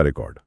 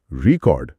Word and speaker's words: record: लेकिन अगर आप दूसरे सिलेबल पर जोर देते हैं, रिकॉर्ड, तो ये एक वर्ब बन जाता है। मतलब कुछ रिकॉर्ड करना। Please रिकॉर्ड this song. सही। स्पेलिंग वही, लेकिन जोर बदलते ही मतलब और पार्ट ऑफ स्पीच दोनों बदल गए।